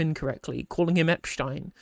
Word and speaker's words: Epstein: name incorrectly, calling him Epstein, because that's how it'd be pronounced in using the German pronunciation. It's a German word. It's been anglicised to be to Epstein, right?